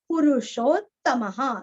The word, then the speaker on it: पुरुषोत्तमः: ज्ञ, पुराण पुरस्व, पुरुषोत्तमः, पु और रु दोनों भी रस्व, पुरुषोत्तमः, दो त का उच्चारण है, पुरुषोत्तमः, जानकी वल्लभ,